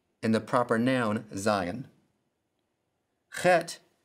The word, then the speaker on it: chet: Chet sounds like the CH in the German word Bach, pronounced back in the throat with the guttural sound.